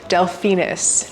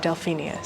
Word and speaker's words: Delphinus: once or twice but it is delphinus not delphinius so get it right